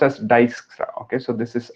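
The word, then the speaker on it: Dijkstra: this is pronounced as dyskra okay so this is i j is pronounced as y okay so many people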